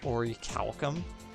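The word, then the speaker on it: orichalcum: the word is pronounced ori calcum all right because of that um and it has a silent h is that i played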